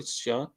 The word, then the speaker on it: Chan: an SE that way Sean yeah it's ch H an but it's pronounced Sean yeah yeah she's she's